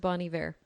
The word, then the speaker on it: Bon Iver: It's pronounced Bon Iver.